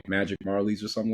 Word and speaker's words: Majerle: Dan Marley. Yeah, Dan Marley.